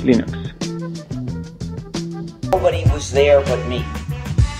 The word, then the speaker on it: Linux: This is Linus Torvalds and I pronounce Linux as Linux.